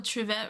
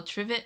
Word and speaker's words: trivet: Oh, Tvette rhyme. Oh, trivet rhymes with give it.